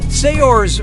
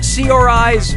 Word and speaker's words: Saoirse: in Brooklyn yeah puri do how do you pronounce her name Saoirse Ronan Saoirse Ronan say yours Ronan or see our eyes Ronan Oh picked what Saoirse says that's